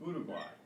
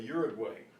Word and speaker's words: Uruguay: Those occur in country names, for example, Paraguay and Uruguay. In English, people say Uruguay, but it's Uruguay.